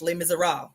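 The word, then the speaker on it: Les Misérables: It's called Le Miser. Uh, it's spelled L E S and then M I S E R A B L E S. It's French. Lay miser, right?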